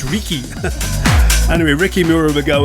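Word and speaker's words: Riky: Ricky spelled with R-I-K-Y. It's Ricky.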